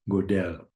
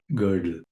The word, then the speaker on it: Gödel: g o d e l so some people pronounce his name godell but I think the correct pronunciation is Kurt gerle nevertheless girdle was a was a Hungarian Austrian